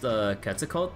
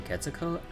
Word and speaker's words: Quetzalcoatl: I never knew that the L, if it's supposed to be at the TL, at the end of a word, the L is silent.